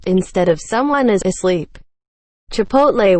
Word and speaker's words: chipotle: Chipotle when pronounced chipotle. The T comes before the L.